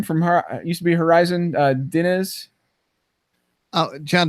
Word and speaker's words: Diniz: From used to be Horizon, Diniz. Oh, John Denise.